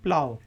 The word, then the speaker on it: plow: आज का जो चौथा वर्ड हमने डिस्कस करना है उसके स्पेलिंग तो सेम है, प्लो, PLOW, लेकिन इसको हम प्रोनाउंस करते हैं प्लाव।